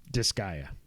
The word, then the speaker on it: Disgaea: How do you say it? Disgaea. I only know that because I listen to GameScoop, and that's how Damon calls it, and he's a big fan.